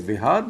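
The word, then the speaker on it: Preah Vihear: Very important temple Priya Var temple up here. I know in India we tend to pronounce it as Vihar but it's spelled Vhar.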